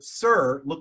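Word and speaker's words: sír: And that means that these 2 burials, the word shear or sir is pronounced shear, that means burial, that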